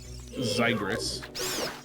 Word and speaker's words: Xigris: Next on our list, then, I will spell this one out for you because I think it's pronounced differently than it looks. But Okay. Zygris. The spelling is Xigris.